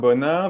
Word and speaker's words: Bonin: brutally no problem so my name is uh oh hey Bona that's the French pronunciation from France and you can call me or I was trained as